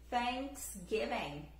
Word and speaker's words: Thanksgiving: É o som do T, só que a gente sopra um pouquinho e fala. Então fica Thanksgiving. Como é thank you quando a gente vai cumprimentar, right?